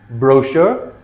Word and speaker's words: brochure: So they're spelled ch, but we pronounce them sh. Okay? Chef, chalet, machine, brochure, parachute, chaperone, chandelier, crochet, quiche.